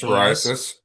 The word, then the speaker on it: psoriasis: It's spelled P S O R I S. Psoriasis. Thank you. Psoriasis.